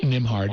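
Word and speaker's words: Nembhard: um the book by Jessica Gordon nard NIMH hard that's how you pronounce Jessica Gord NIMH hard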